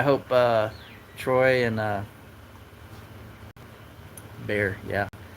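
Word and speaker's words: Bexar: I hope uh Troy and uh Bear. Yeah, they should spell it Bayer in San Antonio. That was a B behar. B E X A R in San Antonio.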